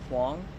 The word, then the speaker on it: Huang: Can I get your Can you spell it for us, please? Yeah. Way How Huang.